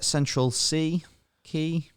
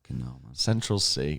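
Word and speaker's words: Central Cee: off all the other guys on that day Central c key essential Central sea really popular really really popular how would you ever pronounce that as key because it's a a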